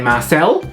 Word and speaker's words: Marcel: Happy birthday, Marcel, which sort of rhymes with parcel.